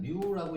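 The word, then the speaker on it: μ: 뭐 읽을 때는 뮤라고 읽는데 뭐 큰 의미는 없습니다.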